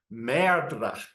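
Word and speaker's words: merdre: the stage and pronounce MRA so this is not just saying M you know he's actually kind of rolling the r as well and apparently in the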